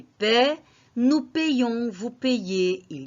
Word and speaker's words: paye: Nous payons, vous payez, il y paie. Ce qui va changer, c'est la prononciation. Je paie, ça veut dire P-A-I-E. Je paye, P-A-Y-E.